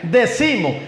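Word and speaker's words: decimus: decimos del vocablo latino que es decimos así así así se pronuncia decimos que significa que significa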